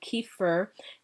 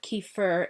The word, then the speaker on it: kefir: And I know that's pronounced a number of different ways, but I pronounce it kefir.